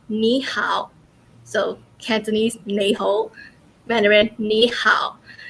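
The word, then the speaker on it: 你好: hello for example um in cantonese it is um nae ho but in mandarin it is nihao so cantonese nejo venom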